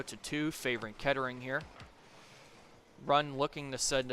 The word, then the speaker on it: Kettering: However, IC was able to get it over to Ketarington's side. I I apologize, Ketering. I said your name wrong.